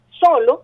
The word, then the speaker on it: solo: al caso de solo solo es una palabra grave tiene dos sílabas solo verdad dónde tiene la fuerza deos en la penúltima sílaba es decir pero es